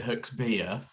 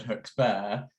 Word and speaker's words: Hooks Bear: for um hoax bear so although in Devon most devonian people would pronounce it hooks beer um beer yes yes neither Ben nor Lucy are from Devon so they've always said hooks bear and so oh look